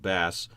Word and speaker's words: bass: is BA SS it looks like the word bass but it's pronounced bass the definition of bass is the